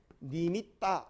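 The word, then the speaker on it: nimitta: 이제 원래 빨리어 인재로 한다면은 니, 미 이런데, 그러면 이제 T가 두 개이기 때문에 이 센 발음으로 이제 이제 센 발음을 씁니다. 그러면 이 타자는 따가 되는데 이건 어디 가야 되겠습니까? 그래서 여기에 이제 이렇게 들어갑니다. 그러면은 보통 보면은 이제 정확한 발음은 니미따 이래 합니다.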